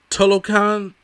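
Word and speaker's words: Talokan: And I'll get to that in a second, because first of all, his people, those God, what are the Tolokan, I believe is how they pronounce it.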